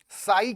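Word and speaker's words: psi: Stream function को बच्चों साई के नाम से प्रोनाउंस किया जाता है और इसका सिंबल है त्रिशूल वाला, ये ग्रीक लेटर है, इसको साई बोला जाता है।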